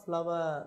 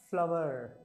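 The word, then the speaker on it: flour: ನೋಡಿ option three ಫ್ಲವರ್ ಇದರ ಉಚ್ಚಾರ ಕೂಡ ಫ್ಲವರ್ okay corn ಫ್ಲವರ್ ನಾಟ್ ಫ್ಲೋರ್ corn ಫ್ಲವರ್ option option 3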